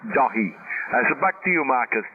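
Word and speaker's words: Dáithí: Is that's what it's the English of my name is, but once again it's pronounced Dahi.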